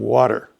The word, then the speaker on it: water: Pretty and water. Water's a funny one. It's a ubiquitous word. We're always saying water, and it's got a classic flap T.